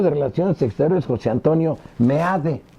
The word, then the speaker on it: Meade: Con el secretario de Relaciones Exteriores, José Antonio Meade. Dicen que deben de decir May, yo lo pongo Meade porque así se escribe.